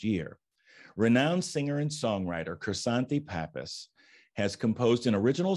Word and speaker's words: Krisanthi: me welcome my guest today croissant pappas welcome chrysanthe thank you thank you it's a pleasure to